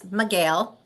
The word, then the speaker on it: Micheel: It's Micheel. Looks like Michael with 2 E's.